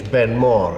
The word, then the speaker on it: Ben More: well of course in English Ben MO is a perfectly good pronunciation in garlic it is aore the big mountain when they finally build